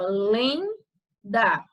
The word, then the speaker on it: lenda: Então, na palavra lenda, você iria separar, ficava lenda. E a sílaba tônica é lem.